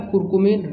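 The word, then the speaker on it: कुरकुमिन: कुकरमीन यहाँ पर थोड़ा गलत लिखा हुआ है, इसका जो सही जो उच्चारण होता है वो होता है कुरकुमीन, रे ऊपर लगा होता है।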